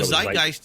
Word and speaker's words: Zeitgeist: the the initial videos do I say it wrong when I say Zeitgeist because I Zeitgeist is right it's kind of like